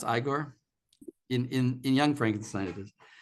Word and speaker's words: Igor: I think it's pronounced Igor. It's Igor.